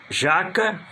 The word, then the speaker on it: jaca: Jacá, o sílaba forte é o K. E jaca, o sílaba forte é o já. Um é paroxítona, é outro oxítona.